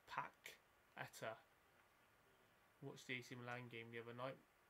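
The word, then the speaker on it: Paquetá: Quetta. Actually, it's Paqueta. Watched the AC Milan game the other night. When they lost to Spal, I think. Paqueta. Oh. Yeah, and it's pronounced Paqueta.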